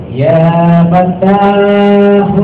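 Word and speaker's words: يا فتاح: tuhan yang maha melihat bacanya begini ya fattahu ya alim ya samimu ya Basir semua ya fattahu ya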